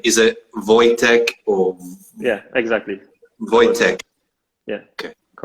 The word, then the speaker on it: Wojtek: and foremost you gotta help me with the pronunciation of your name is it voytek or yeah exactly yeah okay good uh uh